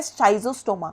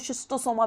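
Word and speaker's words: Schistosoma: Okay, now asexual reproduction is seen in, wait a minute, exception यहाँ पर है शाइजोस्टोमा का, इसको शिस्टोसोमा भी बोलते हैं, प्रोनाउंसिएशन में वैरी।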